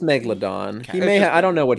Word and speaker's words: megalodon: Did you say a megalodon or is it just a megalodon? It's just megalodon.